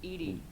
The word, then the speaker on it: EDI: kilograms not pounds kilograms why are you named edie 80 is the phonetic pronunciation of edi that is an acronym for